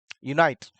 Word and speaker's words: unite: at the same way Unite unite is a word which has been sorted by using oval sound oval word but actually the pronunciation which has been given by this unite is constant sound that's the reason here